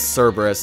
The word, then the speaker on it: Cerberus: look good I know I think it's technically supposed to be pronounced Kerberos but everybody says it's everybody says Cerberus and so do I so screw it okay